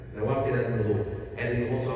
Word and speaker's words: nawaqid: Or in English, nawaqid. N-A-W, nawaqid. N-A-W, just spell it. So, nawaqid, right? But in Arabic, nawaqid. Nawaqid, with a ta at the end of the dal.